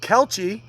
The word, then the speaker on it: Kelce: Travis Kelce. Kelsey. I have my own pronunciations.